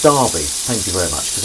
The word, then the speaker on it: Derby: yes so this is this is better it's pronounced Derby thank you very much cuz I live in